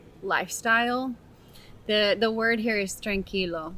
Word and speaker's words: tranquilo: The word here is tranquilo.